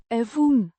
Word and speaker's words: even: Pronounced eh-vuhn, with a short e, as in egg, and a short u as in up.